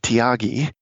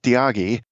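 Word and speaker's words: Thiagi: that I really adore his name is tagi that's spelled th I a gii and he uh mercifully encourages us to use dagi because his full name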